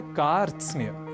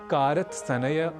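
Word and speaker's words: कार्त्स्न्य: प्रयास करना है और इसे कारत सन्य कारत स्नेह आदि ना कहकर हमें कहना है कार्स तो यह साधारण संयुक्ताक्षर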